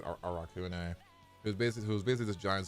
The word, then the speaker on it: Arakune: Arakune, or Arachne, but it's actually called. But they pronounce it Arakune.